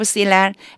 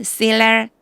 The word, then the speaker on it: Selah: And Selah 실라라고 읽어주셔야 돼요. 실라. Arphaxad was the father of Silla, and Silla the father of Eber.